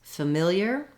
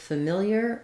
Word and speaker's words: familiar: about how to pronounce familiar and familiarity so first of all the word familiar is stress on the second syllable mill that means that